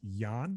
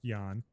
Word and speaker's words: Ian: It's Jan. So his first name it's spelled Ian, but it's pronounced Jan Nepomniachtchi.